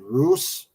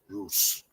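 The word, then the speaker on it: Rhoose: and Cardiff airport in Roose, Wales. I hope I pronounced that right, Doll. Roose. Uh, wait, where is I? I can barely see that. R H O O S E Wales Roose Roose that that might be right.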